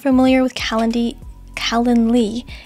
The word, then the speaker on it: Calendly: use calendly if you're not familiar with calendar Callan Lee it's spelled c-a-l-e-n-d-l-y calendly I think I spelled that right in